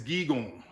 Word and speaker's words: giigoonh: So an example is gigon. So gigon is spelled Giigoonh. It has that double O on the end, but adding that NH makes it nasally, gigon.